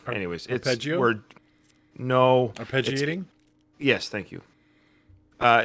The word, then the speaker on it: arpeggiating: might refer to our I'm sorry about this pronunciation art but propagating arpegating anyways no arpeggiating yes thank you uh it's where Johnny's finger